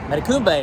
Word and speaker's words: Matecumbe: Matecumbe is how he said you're supposed to pronounce it.